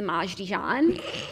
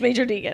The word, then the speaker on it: Major Deegan: So when I first saw it, I always thought it was the Maj Dijon. And I was on the phone once with someone when I was in the car with Olivia. And I was like, we were going to New Jersey. I was like, I'll be there soon. We're on the Maj Dijon. And She was like, what did you say? I was like, I said we'll be there soon. It's Major Deegan.